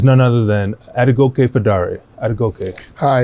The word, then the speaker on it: Adegoke: Adegoke.